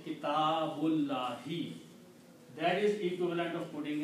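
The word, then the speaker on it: كتاب الله: But when you read together, you do not pronounce this alif. You say kitabullahi.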